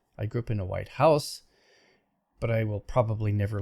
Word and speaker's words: White House: I grew up in a white house, but I will probably never live in the White House. That's a compound noun. Compounds usually have the main stress on the first element.